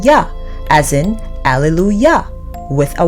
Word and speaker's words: Yah: tetragrammaton YH, is pronounced together, you get the pronunciation Yah, as in Alleluia, with a Y, not a J, which is the Hebrew word for praise Yah. Some persons think it should be pronounced Yeh, but that removes the original A sound of